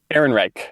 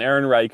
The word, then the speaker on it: Ehrenreich: Ehrenreich. Ehrenreich, thank you.